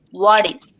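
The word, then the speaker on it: what is: ওয়া ডি আই এস, হোয়াট ইজ। ওই টিটাকে আমি বি এর মতো উচ্চারণ করব। হ্যাঁ টিটা ডি এর মতো উচ্চারণ করবো, কারণ এখানে হচ্ছে এখানে একটা সোয়া সাউন্ড আছে, যার কারণে টিটা হচ্ছে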